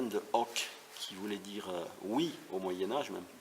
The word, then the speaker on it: hoc: Alors l'occitan, ça vient de hoc, qui voulait dire oui au Moyen-Âge, maintenant on prononce o, mais on écrit toujours hoc, et c'était le domaine